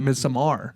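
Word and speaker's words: Midsommar: But but you're right because Ari, which who made it, that's the only thing that matters. He calls it Misamar.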